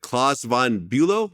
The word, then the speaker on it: Klaus von Bülow: Okay, then 1984, you had your high-profile case with Klaus von Bülow. Did I pronounce it right?